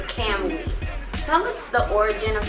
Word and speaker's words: Kamui: Cam Wee. Like Can Wee, but it's Cam.